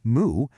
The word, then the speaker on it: 모: The first one, sway, is pronounced say in Korean, and it means year. The next one, moo, is read mo, which means dusk or the end of something.